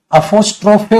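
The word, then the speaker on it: apostrophe: अपोस्ट्रोफे होता है, ट्रोफी होता है तो वाई होता है बेटा, इसकी जो प्रोनाउंसिएशन होती है वो होती है अपोस्ट्रोफे, फी नहीं, ज्यादातर हम फी बोल देते ना, अपोस्ट्रोफेस।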